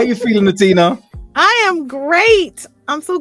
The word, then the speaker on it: H'Atina: It simply says, it's spelled out for you, and it says H'Atina. Yeah, the H is silent.